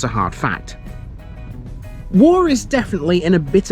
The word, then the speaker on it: Woore: It's exactly the same as saying war as in World War I or World War II.